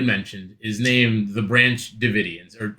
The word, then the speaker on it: Davidians: So my cult, which he had mentioned, is named the Branch Davidians, or it's spelled David IANS. I don't know how they want to pronounce it. It's Davidians to It's me.